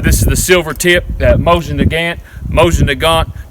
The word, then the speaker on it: Mosin Nagant: is the silver tip Mosin Nagant Mosin Nagant depends to where you're from how you pronounce it we're Hillbillies we pronounce that motion to God so I will take